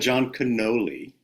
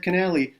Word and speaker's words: Kinnally: You you said John Cannoli because you were thinking of. I told you how to pronounce it. Like I said, Canali, like cannoli, and then you said